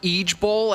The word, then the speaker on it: IJBOL: Is it the one where it's pronounced Eej Bowl, actually?